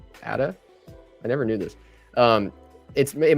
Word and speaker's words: ADA: So if you have something like 88 Cardano, I think it's actually pronounced ADA or ADA.